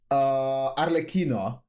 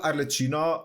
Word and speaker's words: Arlecchino: and I was like, is it actually pronounced Arlecchino? And now that I think about it, I think it is because of the H in it, right? If it was just double C, it would be Arlecchino, but because it's CCH,